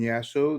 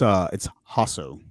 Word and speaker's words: Jasso: as always by Jasso, the digital dude. Did I pronounce that right? At No, least no. Jasso? Is it really J? You could just say, but it's Hasso.